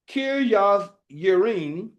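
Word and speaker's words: Kirjath Jearim: And it came to pass, while the Ark abode in Kirjath Yearim, the J is actually pronounced as a Y, that the time was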